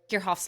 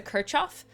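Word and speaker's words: Kirchhoff: I know sometimes people pronounce a Kirchoff, but um we I will refer to it as Kirhoff because I've been corrected on it by some German speaking people. So I'm trying my best.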